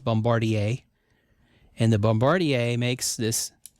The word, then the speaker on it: Bombardier: You might think it's Bombardier, but it's not. It's pronounced Bombardier.